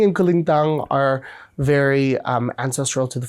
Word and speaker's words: kulintang: Because I've heard you use instruments like a kubing and a kulatang in your music. Am I pronouncing those right? Kulintang. Kulintang. Okay.